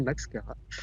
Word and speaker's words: Maxchara: J'ai bien prononcé Max Cara.